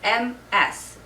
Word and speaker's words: Ms.: This one is M-S. It's pronounced with more of like a Z sound, Ms.